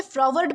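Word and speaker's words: froward: दोस्तों, इसे फ्रॉवर्ड प्रोनाउंस किया जाता है जिसका मतलब होता है झगड़ालू या फिर अवज्ञाकारी।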